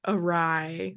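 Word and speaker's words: awry: the first time that I realized that like arai the word that I heard was the word that I was mispronouncing in my head when I read and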